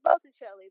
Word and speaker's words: Botticelli: I know I spelled his name wrong. Said his name wrong. But that's what you're here for, to correct me when I say stuff that makes me sound like I'm ignorant. No, it's Botticelli, but the fact that you